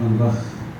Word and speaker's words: Van Gogh: E interessante que ele usou a pronúncia correta do nome, né? Van Gogh.